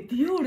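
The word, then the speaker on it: Dior: ディオールって読むじゃんこれ。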